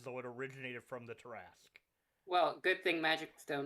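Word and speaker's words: Tarrasque: on dnd beyond and type in tarask because mercer um mercer is the one who did does the pronunciation on it and he's very enthusiastic about the tarasque i still i still call it the terrasque that's the way i like to say it reflective cara pass oh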